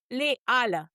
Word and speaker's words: Les Halles: Les Halles. Oh, I always get that one Les wrong. Halles. Just pretend there's no A.